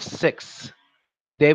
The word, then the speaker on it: sixth: a slangish pronunciation of 6. They may pronounce it with just an S sound, but it's supposed to be pronounced with a th sound. So properly, it's 6th, and then that tongue comes out.